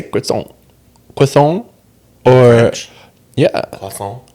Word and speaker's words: croissant: Why not the hard T? You never pronounce T at the end of a French word unless there's a letter after it, like an E.